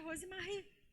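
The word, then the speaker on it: Rozemery: R-O-Z-E-M-E-R-Y. Mas se pronuncia Rosemarie.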